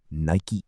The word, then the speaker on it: Nike: Then someone suggested Nike, Greek goddess of victory, pronounced Nike. perfect, short, mythological, powerful. And on May 30th, 1971, Nike Inc.